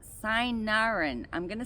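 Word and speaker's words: cynarin: Um, it is used for detoxifying the liver due to the properties in it called sinarin. I'm going to spell it so you know the spelling.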